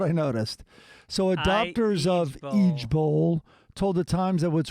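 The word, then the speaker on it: IJBOL: j b o l it's pronounced each bowl and it stands for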